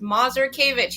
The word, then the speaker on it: Mazurkiewicz: Life Care planning and my last name is pronounced mazur kavich you were really close